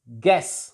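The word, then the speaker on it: guess: गैस, not anything else. गैस. यू is silent here.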